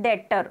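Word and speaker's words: debtor: R pronouncing it so pronounce it's एज अ डेटर okay B should be silent pronouncing as अ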